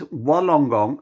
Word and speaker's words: Wollongong: I know it spells Wollongong. It's pronounced wool, like bah, sheep.